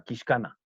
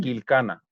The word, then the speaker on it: Quilcana: Y justamente ellos tienen la pronunciación de lo que mencionaste ahora, Quiscana. Nosotros acá decimos Quilcana, pero está correcta, está correctamente.